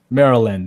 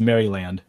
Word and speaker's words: Maryland: Maryland. It's not actually pronounced Maryland. Maryland is better.